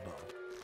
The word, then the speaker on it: dawdle: You know, it rhymes with water, like water dawdle.